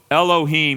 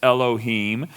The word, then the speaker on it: Elohim: And so Elohim, you actually literally leave that silent. You don't pronounce it. It's Elohim.